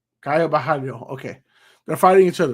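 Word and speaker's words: Caio Borralho: Kaio Bhalio. Kaio Bahalo.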